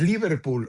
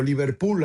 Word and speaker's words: Liverpool: malo que lo mencionas Liverpool o Liverpool? Allá no, allá no es como allá se pronuncia con de manera aguda en en las tiendas Liverpool de México, eh, cuesta 2,099 pesos.